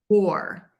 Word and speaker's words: war: And the other word that you're asking about is war. And war like you wore a vest because it's cold today, are both pronounced W or.